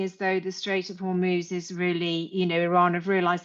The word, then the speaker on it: Hormuz: Because of the Strait of Hormuz, is that how you pronounce it? Hormuz, yeah.